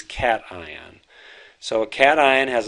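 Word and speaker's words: cation: called a cat ion we do not pronounce that keishon it is cat ion so a cat ion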